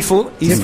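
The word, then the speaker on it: Phau: C'est allemand, ça s'écrit P-H-A-U. Oui. Il n'est pas allemand. Oui, il est allemand. Et il est tout jaune. Ben, non, mais il s'appelle Faux.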